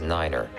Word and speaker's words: nine: at a time and pronounce the number nine as Niner for example to refer to Runway 29 say Runway two niner all vehicles and aircraft